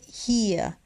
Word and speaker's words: hier: Aquí se dice hier. Se escribe de esta forma, pero como ya habíamos visto, cuando vemos una I y una E juntas, significa que vamos a tener que hablar una I larga. Hier, hier.